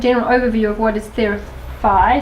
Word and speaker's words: Theraphi: overview of what is theory by some people say there a fee like therapy but it's how you pronounce the Greek letter Phi or fee and it's related to